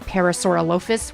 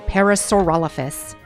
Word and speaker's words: Parasaurolophus: a parasaurolophus most often confused or people often pronounce it as parasaur lopus which is the incorrect way of pronouncing it it's a parasaurolophus which is you might recognize that dinosaur as